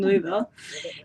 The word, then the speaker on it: Louisville: Racing Louisville. And has had 11 appearances for them, including 1 start and 1 assist against Angel City FC. And now she has officially signed a 2-year contract with Racing Louisville, so she will continue her stint with them.